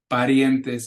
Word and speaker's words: parientes: Parientes, not parientes, it's parientes, ye. The IE together make a ye sound.